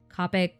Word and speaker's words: Copic: i was using my copic markers copic copic i've heard it pronounced both ways honestly i flipped back and